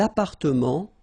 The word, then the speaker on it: appartements: Des appartements en copropriété. Remember, final S and final T are not pronounced here.